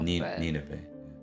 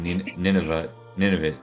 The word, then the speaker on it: Nineveh: Nineveh.